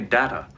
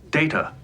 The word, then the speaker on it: Data: You called me Data. I am wearing a Discovery uniform, though. Oh, that explains why you don't know anything about Star Trek. My name. It is pronounced Data.